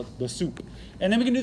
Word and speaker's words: sup: way soup of a it looks like salt but it's soup pronounced soup i'm gonna this is